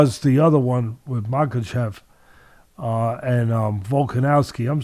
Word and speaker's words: Makhachev: As far as the other one with Makhachev and Volkanovski, I'm saying Makhachev's name right?